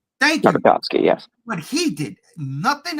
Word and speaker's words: Tartakovsky: Fuck, you take with Jendi, never going to pronounce his last name right. Tartakovsky. Thank you. Tartakovsky, yes.